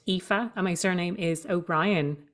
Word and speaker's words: Aoife: to spell my name it's spelled AO i f e and it's pronounced epha and my surname is